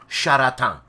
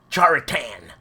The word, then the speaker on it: Charatan: And it's pronounced Charatan, right? Not Charatan.